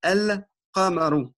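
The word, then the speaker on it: القَمَرُ: Donc, les lettres lunaires, tout simplement, on met le soukoun sur le lemme et on prononce toute la phrase comme elle est, tout le mot comme il est. El-Qamaru.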